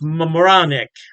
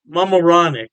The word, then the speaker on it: Mamaroneck: Halftime Beer has two locations in New York State, Poughkeepsie, and I believe it's pronounced Mamaroneck. Mamaroneck. Yeah, don't quote me on that pronunciation.